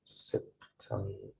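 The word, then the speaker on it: سبتمبر: then we have september it's pronounced same like september but the difference of course is that we don't have the letter p in arabic so we pronounce it like b so september pronounced like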